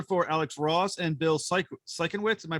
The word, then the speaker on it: Sienkiewicz: You're art dealer for Alex Ross and Bill Sienkiewicz. Am I pronouncing that correctly? Sienkiewicz, yeah.